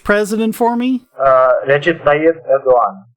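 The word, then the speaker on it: Erdoğan: on because, and you're going to have to pronounce the name of the Turkish president for me. Recep Tayyip Erdogan. Erdogan.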